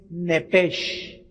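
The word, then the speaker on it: נפש: Es nepesh o nepeg, como se pronuncia. Se escribe nepesh.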